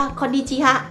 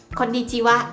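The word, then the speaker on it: こんにちは: เนี่ย เรา จะ ไม่ อ่าน ออก เสียง ว่า ข้อ ดี จี ฮะ เลิก จะ ร้อง เป็น ไง นะ แต่ เรา จาก เรา เสีย ว่า ข้อ ดี จิ วะ คอลดี จิ วะ แต่ ว่า เวลา เขียน ไอ้ ตัว ว่า ที่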